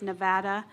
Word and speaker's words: Nevada: So the way that the state pronounces his name is Nevada, and so it just matters.